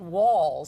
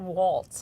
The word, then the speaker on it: Walz: Now, it's my understanding that his name is pronounced Walz. Walz, didn't I say Walz? You sort of said Waltz, I think.